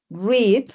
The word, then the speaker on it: read: pero se pronuncia diferente read aquí como si fuera con una I y el pasado se